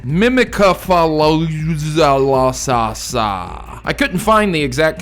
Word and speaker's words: Mimikyu: of my word so for all those who hate how I say mimiku here is the top comments correction mimika I couldn't find the